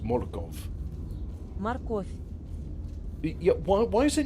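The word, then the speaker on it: морков: It's phonetically it's written Morkov. Now, as far as I'm concerned, that's pronounced Morkov.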